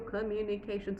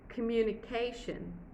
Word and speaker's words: communication: Communication, it's just 3 syllables. I said communication, 3 syllables, and this is at the peak, which is K. Communication. This is my peak.